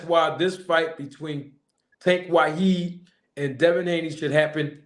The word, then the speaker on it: Wahid: name of Tank, and I didn't want to mispronounce it, but you said Abdul Wahid, correct?